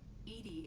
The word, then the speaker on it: EDI: is a jar why are you named Edie Edie is the phonetic pronunciation of EDI that is an acronym for